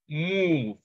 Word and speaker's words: move: All right, because the E in move is silent. So the sound of O here is oo, move.